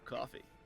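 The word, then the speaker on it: Ko-fi: it spelled coffee no it's spelled Kofi but it's pronounced coffee and that I am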